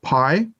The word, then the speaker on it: Pai: e-week e-speak segment our interviewee today is pai is that correct did i get your